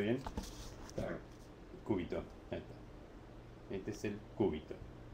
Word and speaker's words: cúbito: Este es el cúbito. Con acento en la U. Cúbito. No como un alumno, como ya le conté en la clase anterior, que se llamaba Oscar, pobre, ya falleció. Que le decía cúbito.